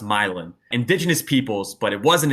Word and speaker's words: Milan: real life it's the milin it's spelled like Milan like the Italian city but it's pronounced milin indigenous peoples but it